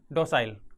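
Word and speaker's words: docile: अब इसके प्रोनाउंसिएशन में आपको थोड़ा सा डाउट हो सकता है, दिक्कत हो सकती है कि इसको डोकाइल बोलें या डोसाइल बोलें। तो इसका सही उच्चारण या प्रोनाउंसिएशन होता है डोसाइल।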